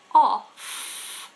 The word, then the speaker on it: off: But then if we turn the light off, that's an F. Off, of, off, of.